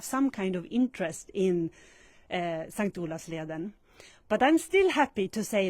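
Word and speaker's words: S:t Olavsleden: Hello and welcome everyone to this live broadcast at St. Olavsleden. Well, that's how we pronounce it in Swedish, St. Olavsleden.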